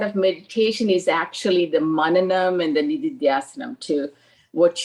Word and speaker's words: Manana: So the what you said is part of meditation is actually the mananam and the nididhyasanam, to what you heard and you process and to internalize.